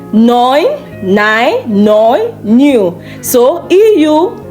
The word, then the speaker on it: neu: So when you come across E-U in a German word, it is pronounced oi.